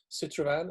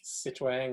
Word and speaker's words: Citrovan: Citrovan, which is probably the stupidest name we ever did, because nobody can pronounce it. They call it like Citroën or Citadon and whatever, whatever Swedish words that sound similar, or French words actually.